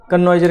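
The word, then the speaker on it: connoisseur: अब बात आती है कन्वाइजर का मतलब क्या होता है। वैसे इसका रियल जो प्रोनाउंसिएशन होगा वो कनेसर होगा। ठीक है, क्या होगा, कनेसर करके।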